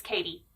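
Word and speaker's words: Cady: I think they do pronounce it Katie. It's C-A-D-Y, which kind of threw me for the first few books, but it's Katie.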